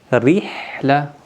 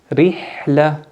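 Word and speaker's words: رحلة: ra harfi ince okunur burada örnekler burada rihle ra harfi bakın burada Esre var bu yüzden ince okunur rihle ikinci kelime ricel ricel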